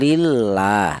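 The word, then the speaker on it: لله: Ini cara bacanya lam jalalah tersebut dibaca tarkik atau dibaca tipis. aduw lillah lillah seperti itu tidak boleh dibaca tafhim ya dibaca seperti ini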